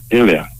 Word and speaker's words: Ilya: so what's your first name India pardon IA Ilya oh spell that i-n-y-e i-l-y-a no Ilya yeah you got